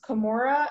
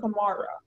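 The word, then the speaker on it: camorra: There is Kimura and Kimara.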